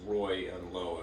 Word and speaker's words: Reuleaux: I believe that is French. Right. A Reuleaux triangle is a triangle sort of with curves instead of flat sides. Right. Like that. And it's pronounced Roy and Low, if I'm not mistaken.